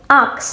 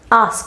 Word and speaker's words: ask: যেহেতু আমি প্রথমেই বলেছি অনেকেই এই শব্দটাকে ভুল উচ্চারণ করে থাকেন আক্স বলে থাকেন এটা আক্স হবে না আস্ক হবে।